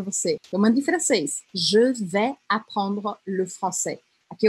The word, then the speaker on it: je: Então, seria je, sendo que esse E é o E francês, que é aquele E bem fechado, que se aproxima à letra O, né?